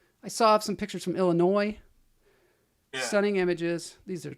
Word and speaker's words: Illinois: I saw some pictures from Illinois.